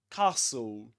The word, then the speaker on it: castle: Okay, it's like you say something like this. Castle. Castle with a long r sound.